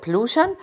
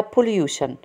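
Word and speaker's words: pollution: ورر بلوشن او وتر بلوشن هو تلوث المياه ولوشن حبايبي اللي هي تلوث فيها تي اي او ان قلنا بنقولها شن شن بلوشن وفي نطق تاني لها بوليوشن بلوشن بس الامريكان بلوشن بلوشن بلوشن تلوث اونر يعني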